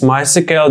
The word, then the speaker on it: MySQL: Just in case you didn't know, most people pronounce MySQL by spelling out the last three letters is as in MySQL.